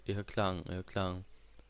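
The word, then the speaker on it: irrKlang: At first Delphi and Irklang. The pronunciation is right because it's German, and Irlicht is German too.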